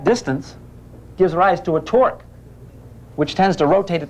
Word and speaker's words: torque: the same but opposite begin with t end with dork rhyme with dork dorks torqus see that same torque this kid here got